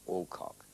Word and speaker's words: Alcock: the girl and saying, Alcock, providing he doesn't emphasize either the first or the second syllable.